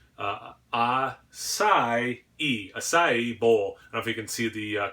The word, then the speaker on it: acai: YouTube video I am gonna pronounce this correctly ass ie ah sigh e ass ie Bowl if